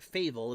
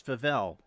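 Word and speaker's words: Favell: to the right of favel I'm pronouncing that right am I it's not faval it's favel I'm I'm asking Keon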